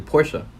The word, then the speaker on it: Porsche: like honestly but like Porsche Porsche that I can't get over that it's like worse yeah Porsche it but is actually Porsche I don't see the able a is Porsche oh yeah the Porsche